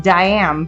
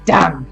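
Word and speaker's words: Daim: right well it's not it's di da IM diam but it's pronounced more like dum candy like yes I'll have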